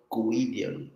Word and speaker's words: Guidione: Guidione or No. something like that. Only it's different because like I read the name in Portuguese. So in Portuguese, Gui is Gui.